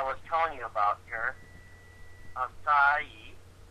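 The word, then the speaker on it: açaí: Acai. It's pronounced acai.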